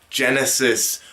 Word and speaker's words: Genisys: be known as Terminator Genisys, with the return of Arnold. The funny thing about this title is the fact that it's not spelled, Genesis as in Genesis. It's spelled Genesis as in Genisys.